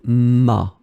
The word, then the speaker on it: m'a: the apostrophe, you get ma, ma phonetically. It's exactly the same sound, ma and ma.